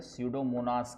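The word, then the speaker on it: Pseudomonas: एक दो तो नाम मुझे पता है क्लास्टीडियम क्लास्टीडियम सडोमोनास पी एस यू P silent है सडोमोनास कहते हैं।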